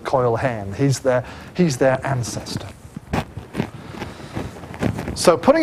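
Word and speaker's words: Coel Hen: We usually spell it these days like that or something, but in modern Welsh, coil, like that, coil hen, coil the old, okay?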